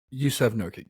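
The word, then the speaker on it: Yusuf Nurkić: Is it Yusuf Nurkic? Yusuf Nurkic, yes. Okay.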